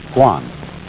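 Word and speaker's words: 觀: And the whole character is pronounced Guan.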